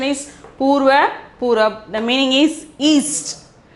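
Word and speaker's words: पूर्व: Here the first one is Purva. Purva, Purva, Purab. Purva, Purab. Okay, pronunciation is Purva, Purab.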